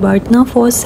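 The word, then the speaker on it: Barnafoss: एफ O double S बीच में डी नहीं है लेकिन यहां पे क्योंकि एन को डी की साउंड के साथ प्रोनाउंस किया जाता है तो यह बाटना फॉस है और फॉस कहते हैं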